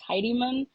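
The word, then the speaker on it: Tiddy Mun: it makes sense uh it's called the Tidy not tidy titty or tidyman it is t i d d y m u n um he is the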